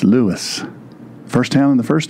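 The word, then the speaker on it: Lewes: School in Lewis Delaware you all would pronounce that L but it's Lewis first town in the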